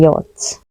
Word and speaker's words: yacht: sailing on the luxury yacht in us it's pronounced yacht while in British it's